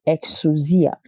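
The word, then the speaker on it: exousia: la puissance que l'on appelle exusi exusi ou exusia et exusia s'écrit e in u s i a et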